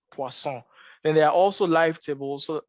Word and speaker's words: Poisson: first one uh is a poisson regression it's pronounced poisson you might also think it's also a log